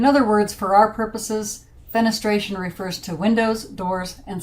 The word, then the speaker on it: fenestration: The word is fenestration, pronounced fenestration, and it means an opening.